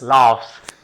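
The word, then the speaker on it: laughs: रहे हो उसका उच्चारण उच्चारण में लाफ फ फ आ रहा है यानी एफ आ रहा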